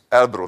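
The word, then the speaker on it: Elbrus: although I can't pronounce it Serge what's the pronunciation El Bru thank you yeah there you are but it's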